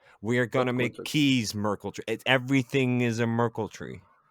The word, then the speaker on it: Merkle: and it's even know how to to pronounce the thing they write Merkel like Angela Merkel and yeah in any